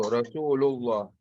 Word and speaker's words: Rasulullah: Because of the fatha preceding the Allah, it is pronounced with a full mouth. And then the next examples is with a dhamma. So Rasulullah.